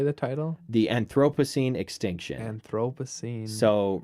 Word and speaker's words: Anthropocene: do you say the title the Anthropocene extinction Anthropocene so right now we're in the like if